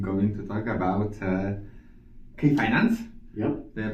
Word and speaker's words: Kai Finance: uh today I'm going to talk about uh K Finance. Yep. Did I pronounce it correctly? Yeah. Kai Finance.